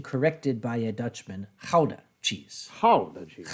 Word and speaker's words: Gouda: corrected by a Dutchman, Gouda cheese. Gouda cheese. Gouda, which is very good shit. Gouda, you got to say it with some phlegm.